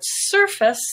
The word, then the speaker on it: surface: are some other examples face is gray but in the word surface the stress is on er purple and face becomes surface stance is another black